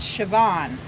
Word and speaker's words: Siobhan: Okay, it was not Sharon, it's Siobhan. It says autocorrect. Siobhan is pronunciation.